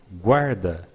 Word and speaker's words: guarda: In this case, we always pronounce the U. So, G-U-A, G-U-A, G-U-O, G-U-O. Exemplos, guarda, guarda.